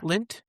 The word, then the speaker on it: Lindt: Lindt. Yeah. Is that how you say? It? Yeah. It's like Lindt, but there's a D in there, right? The D is silent though, right?